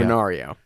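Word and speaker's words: Honório: And if the H was there, you know when you have Victor, they call him Honorio. Honorio. The H is kind of left out.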